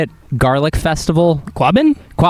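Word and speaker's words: Quabbin: Quabin. Quabin. Thank you. I can't. So you say that again. Quabin garlic festival.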